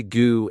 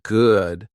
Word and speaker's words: good: They say goo instead of good, fin instead of fine, imprint instead of important.